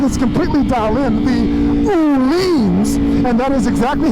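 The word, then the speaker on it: Öhlins: in Sweden and they told me that it's pronounced Ulin but the suspension is absolutely amazing absolutely amazing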